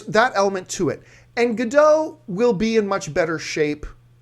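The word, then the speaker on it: Gal Gadot: so obviously skinny and or did I say it wrong G gdau right gdau yeah whatever since G gdau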